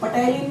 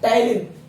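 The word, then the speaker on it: ptyalin: पटाइलिन नहीं बोलते इसको, क्या बोलते हैं? टायलिन। पी यहाँ पे साइलेंट रहता है।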